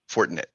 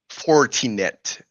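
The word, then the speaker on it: Fortinet: Uh, I forget what the other one is, but uh um Fortnite. Uh, not Fortnite. Not Fortnite. No, foret.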